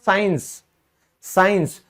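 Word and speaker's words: science: जैसे आप कहते हो साइंस, तो आप देखोगे यहां इस सी का कोई लॉजिक नहीं है, उच्चारण हो ही नहीं रहा है, तो ये साइलेंट है।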